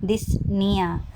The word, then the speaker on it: Dyspnea: आज का जो टॉपिक है उसका नाम है डिस्निया। इसमें जो पी होता है वो साइलेंट होता है।